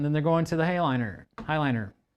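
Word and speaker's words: Heighliner: And then they're going to the Highliner. I always say that weird. I mean, it's spelled like hay, like nay.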